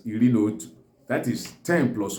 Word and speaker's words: iri na otu: When 10 plus 1, that is 11, stands alone, it's pronounced as Iri na Otu.